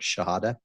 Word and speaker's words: Shihadeh: S as in Sam, H-I-H-A-D as in David, E-H, Shihadeh. That's the American way of saying it.